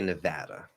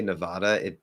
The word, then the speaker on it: Nevada: Is it Nevada? Sorry, Nevada or Nevada? Depends on the speaker. Remember, technically, natives are never wrong. So they just might not be standard. How do I say it? I say Nevada.